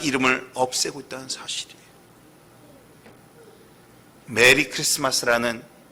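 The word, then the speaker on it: Xmas: 이걸 뭐라 읽어야 돼요? 크리스마스를 읽어야 돼요. 그런데 사람들은 엑스마스라고 읽습니다.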